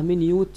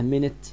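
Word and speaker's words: minute: ما أنت عارف إن الكلمة دي من يوت كده لها نطقين. لو نطقناها من يوت يبقى هي بتساوي كلمة tiny يعني very small. طيب لو نطقناها منت يبقى معناها دقيقة دقيقة بتاعت الساعة يعني. طيب بعد كده how أو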